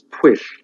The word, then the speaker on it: Pwyll: The hero is Pwyll.